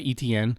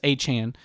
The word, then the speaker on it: Etienne: Shuck, they have uh Travis no longer goes by Etienne. Uh Travis Achane is how he wants wants his last name to be pronounced.